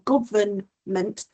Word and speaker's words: government: words like environment or government, they have a silent letter, the N, government, environment. It's making sure that even though we don't necessarily pronounce the letter, we can still write it correctly.